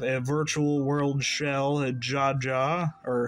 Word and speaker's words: Jaja: virtual world shell a Jaja or haha but it's spelled with like the Spanish pronunciation we'll put that aside